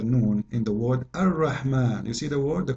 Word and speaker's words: الرحمن: So if we say Ar-Rahman in the Quran, it's coming the alif very short, but you hear me pronouncing the alif, Ar-Rahman. Ar-Rahman.